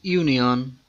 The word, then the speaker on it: union: These words university, union, one begins with a consonant sound, that of you or wa.